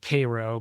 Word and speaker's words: Cairo: Uh, but yeah, jumping out of the car and shooting the shot for Gem Theater from they call it Cairo, but it's spelled Cairo.